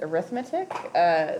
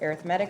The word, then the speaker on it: arithmetic: talking about arithmetic sequences um they're actually not pronounced arithmetic there's lots of um there is a word called arithmetic but that's not what this one is it's arithmetic sequences um so go ahead and start your